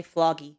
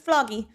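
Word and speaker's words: FLOGI: wrong no matter what I think you just say floggy yeah that's all I'm saying it's vloggy all right so here's how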